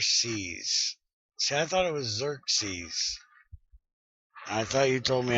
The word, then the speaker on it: Xerxes: close enough the Persian Emperor God yeah it's pronounced Xerxes goofy well it takes a long time cuz